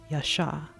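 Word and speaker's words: ישע: name is to save Yasha in Hebrew it's spelled yod Shin Yasha to save father sent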